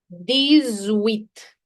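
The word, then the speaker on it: dix-huit: Here there will be a leazison. Remember in our previous sessions we've done leazison. In case you don't know the concept of leazison, please refer to a phonetics lesson. It'll be useful for you. The zoo. The zoo. X when it's followed by a wobble has a z sound.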